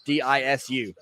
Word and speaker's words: Disu: I'm not sure how you pronounce his last name. It's Disu.